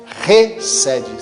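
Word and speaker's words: חסד: A palavra misericórdia, no original, no hebraico, é recede. Se escreve com CH no hebraico, mas se pronuncia como H, como se o H fosse pronunciado.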